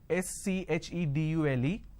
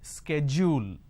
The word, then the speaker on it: schedule: american pronunciation is sk schedule and this is a fact a lot of people don't understand so the british pronunciation is schedule the american pronunciation is